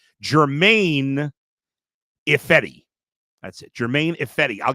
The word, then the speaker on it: Ifedi: Am I pronouncing his name right? I double-checked it, and I forgot. It's Germain Ifedi.